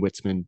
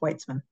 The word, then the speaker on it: Whitzman: I just say that my last name is pronounced whitesman I was I should have asked before doing it I just shot in the dark with it and I'm sorry so no problem I mean it it looks like witzman uh it's just I